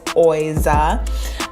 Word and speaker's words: Oiza: Some people have been asking me how you pronounce that. It is Oiza.